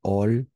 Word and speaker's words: hall: Le guichetier se trouve dans le hall central. D'accord? Dans le hall central. En français, le H est muet.